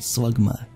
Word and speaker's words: Slugma: I mean slugma Satpal you pronounce it slugma that's what gamma G is always pronounce it wrong panting rocky okay fist